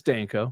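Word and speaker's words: Danko: Hopefully I pronounced his name correctly. Yeah, it's Denko.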